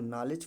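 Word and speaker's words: knowledge: जाएगा नो पढ़ा जाएगा उसी प्रकार देखते हैं यान से पहले क्या है के है तो के क्या है रिमूव है और उसके बाद क्या पढ़ा जाएगा नॉलेज पढा जाएगा ठीक है उसके बाद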